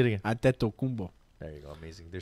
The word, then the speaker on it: Antetokounmpo: Antetokounmpo. Say it again. It's not a Greek name. Say it again. Antetokounmpo.